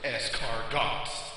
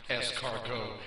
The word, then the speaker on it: escargot: and takes a girl to dinner and orders escar dos with a little Cabernet and the waiter doesn't want to embarrass the nerd and tell him it's pronounced es cargo and Cabernet and when the waiter brings them